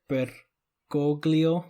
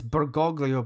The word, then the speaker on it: Bergoglio: It's Bergoglio, but I think the easier way to pronounce it is Bergoglio.